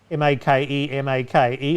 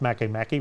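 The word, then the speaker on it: Makemake: makkai for a point m-a-k-e-m-a-k-e i assume it's pronounced makamaki rather than make make and pluto and pluto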